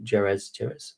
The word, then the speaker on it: Jerez: And of course, we've got the Macallan, the new Jerez, that's how you pronounce it, which for those people who don't